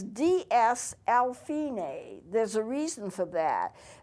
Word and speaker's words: fine: Now, it's spelled F-I-N-E, but it's not pronounced that way. It's pronounced fine.